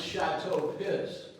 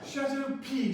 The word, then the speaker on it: Chateau Piss: That's the very famous Chateau Piss. Chateau P, sir. The S is silent. It's pronounced P.